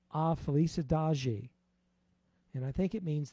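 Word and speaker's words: A Felicidade: i got my lovely wife to help me pronounce this correctly it's called a felice adagi and i think it means the happiness really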